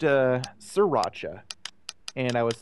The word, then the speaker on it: Sriracha: one day is that you know I hear pronounced uh sriracha and I was like you know I completely